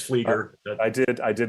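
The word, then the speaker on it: Flieger: ago thank you and i interviewed um uh verlind flager did i mispronounce her name it's fleeker i did i did mispronounce oh my goodness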